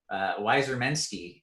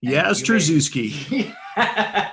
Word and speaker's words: Yastrzemski: I believe we got a Yastrzemski question in, which is notable because last season I pronounced it Wyzermensky. Yastrzemski.